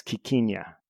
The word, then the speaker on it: quinquina: But yeah, it also looks like the pronunciation is quinquina.